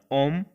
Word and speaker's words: homme: ये एच से है लेकिन यहाँ एच को प्रोनाउंसिएट नहीं करते हैं, वो एक वॉवेल की तरह काम करता है, तो इसको पढ़ा जाता है ओम।